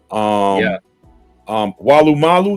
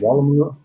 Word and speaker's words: Woolloomooloo: Walu Malu, did I say it right?